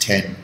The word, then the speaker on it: iPhone X: this year on expectations the iPhone X pronounced 10 who read night sales